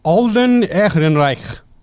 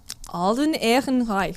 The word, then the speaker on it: Alden Ehrenreich: Alden Ehrenreich. Alden Ehrenreich.